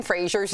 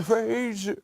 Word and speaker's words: Fraser: It turns out we've been saying Brendan Fraser's name wrong. We all thought it was Fraser, like the Cheers character, right?